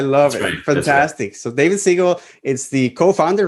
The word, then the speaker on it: Seigel: do you say it it's the you make the same sound as uh the animated image format how does that sound it's seagull oh yeah okay yeah just